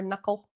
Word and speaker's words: knuckle: It's logical versus English that has all these like silent silent sounds, silent K's like knee or knuckle.